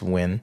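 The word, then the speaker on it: Nguyen: that's that's a wind that's n gu o ye na it's pronounced when okay um but yeah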